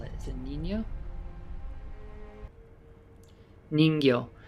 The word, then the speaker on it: Ningyo: Ningyo. So Ningyo. That's Nin, Nin-gyo, Gyo.